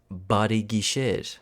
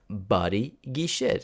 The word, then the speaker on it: բարի գիշեր: It's barigishir. How do you spell that? In English letters, it's B-A-R-I-G-I-S-H-I-R. I space Gisher. Body Gisher.